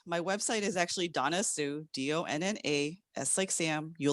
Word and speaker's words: Su: collaborate sure thing so i say that my name is and it's partially because when i used to say my name is donna sue people say donna sue what's your last name i was like no it's sue i married it you